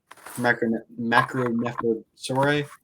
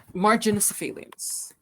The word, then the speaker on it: Marginocephalians: I'm curious if anything like that carries over to Pachycephalosaurus, other macronephosauri. Think I pronounced that right? Marginocephalians.